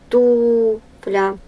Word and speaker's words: туфля: Туфля. Ударение на первый слог.